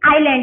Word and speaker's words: island: Okay, now सी ISLAND, आइलैंड। यहाँ पे एस जो है वो साइलेंट है, ठीक है, एस जो है वो साइलेंट है, तो हम रीड करेंगे आइलैंड।